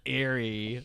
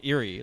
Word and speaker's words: Erie: I didn't mean like Airy because he's like you're saying it wrong it's Airy whatever yeah Irish Lee um yeah and he's like no Eerie like Lake Erie in America like you're banished there